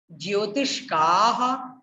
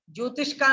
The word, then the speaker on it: ज्योतिष्काः: ज्योतिष का नहीं, ज्योतिष्काः। आपको पूरा विसर्ग तक पर ध्यान देना चाहिए।